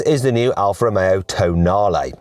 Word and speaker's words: Tonale: the new alfa romeo tonale yes i know it looks like it's pronounced toenail but it isn't okay i checked with some italians anyway the tonality is